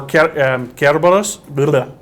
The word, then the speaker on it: Kerberos: So, creature feature is on Cerberus, or Kerberos. It's that hard C, soft C kind of thing again.